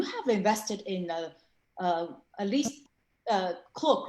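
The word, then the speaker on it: Klook: Sometimes I say K-Look or Cloak. How do you say it? Yeah. I pronounce it as a K-Look.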